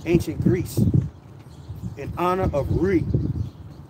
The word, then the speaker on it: Rhea: Greece in honor of Re. If I can say it right, Re, R-H-E-A, Re, the mother of the Rhea, right, Salaki, Rhea, the mother of the gods.